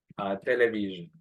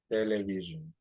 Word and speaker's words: television: Busquemos television. Television. In television, you can see in here, aquí está el apostrophe. Entonces pronunciamos television. Television. Y aquí está este símbolo que indica el sonido Z. Television.